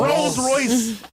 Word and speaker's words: Rolls-Royce: Rolls-Royce. Bro, you pronounced with a L.